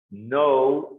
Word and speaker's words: know: Know, knew, known. Know, knew, known. Recuerden que la K no se dice I don't know.